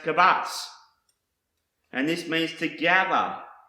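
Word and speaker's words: קָבַץ: The next word I want to show you is pronounced kabatz, and this means to gather, collect, assemble, and store.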